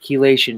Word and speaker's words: chelation: Chelation. It's spelled with C-H, but it's pronounced key.